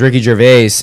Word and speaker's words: Ricky Gervais: It's Ricky Gervais. Is that did I pronounce that right? Yeah. So it's Ricky Gervais, and his wife dies, and the humor of the first 4 episodes is Yeah.